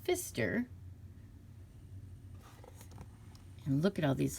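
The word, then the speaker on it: Pfister: see it's by marcus i believe his name's pronounced fister and look at all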